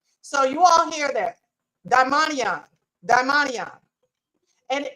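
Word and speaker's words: δαιμόνιον: So I want y'all to hear translated, the transliteration and the pronunciation of the word devil in Hebrew. Strong's G 1140, daimonion. So you all hear that, daimonion.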